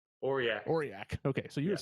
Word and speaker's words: Aurillac: Aurillac? Aurillac.